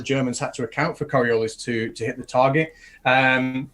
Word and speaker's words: Coriolis: They had it set for correction for the Coriolis effect. I always use the French pronunciation, Coriolis.